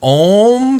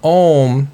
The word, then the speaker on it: Om: what it really is if you think about M how it's spelled syllabically is au M so the ah comes from the back of the throat just imagine ah comes from back here then oh is formulated in the mouth and then m is